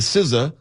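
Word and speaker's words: SZA: We know SA is Siza.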